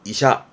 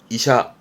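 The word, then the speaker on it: 医者: 발음은 이샤, 이샤.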